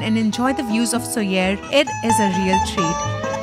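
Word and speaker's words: Sóller: Nenny's at Port de Soyer. So I just got to know that it's not pronounced Soler, but Soyer.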